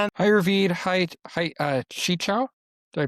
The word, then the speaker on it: Qichao: Hi Hi Chi Chao. Did I pronounce that right?